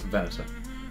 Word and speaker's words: Venator: Yeah, Venator. Like a vending machine.